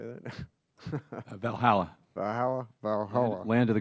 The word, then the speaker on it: Valhalla: at uh Valhalla how do you say that Valhalla Valhalla Valhalla land of the Gods okay Dr